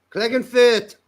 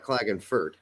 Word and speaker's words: Klagenfurt: the central headquarters for the british army klagenfurt clegg and fit if i'm pronouncing like they pronounce it sklagonfit not clogging fert this sounds like it just sounds like some